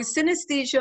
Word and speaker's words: synesthesia: do you pronounce synesthesia so synesthesia might remind us of a more familiar word anesthesia and as we know